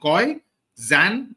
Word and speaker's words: Koyczan: to pronounce my name Shane as in Rain CO as in ki Zan which rhymes with pan so Shane Ki Zan Okay C is silent now he is a